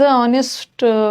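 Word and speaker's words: honest: पता ही है कि नेस्ट को नेस्ट मत पढ़ना है इसका एच साइलेंट है जैसे एर एर का मतलब होता है उत्तराधिकारी तो एच साइलेंट है एर पढ़ेंगे उसी तरह यह भी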